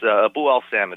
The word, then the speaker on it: Abu al-Samid: Abu al-Samid is the way I usually pronounce it.